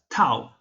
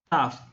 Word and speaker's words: tau: instructor may release tao the modern greek people don't read seoul although the ancient greek people call it tao its modern pronunciation has been changed into f and just like this please pop less air from your mouth so it becomes tough stop okay let's go